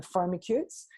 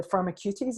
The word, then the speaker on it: Firmicutes: between bacteria dates and the pharma kids or the pharma cuties it's sometimes pronounced by Terry Dietz and